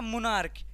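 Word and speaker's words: monarch: फिर है आपका मोनार्क। इसमें भी क्या आ रहा है? तो सी एच का सी एच का उच्चारण आपका क आ रहा है।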